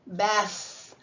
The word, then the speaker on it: bath: Whereas the word bath, even if you say it really loud, bath, put your hand here, bath, both.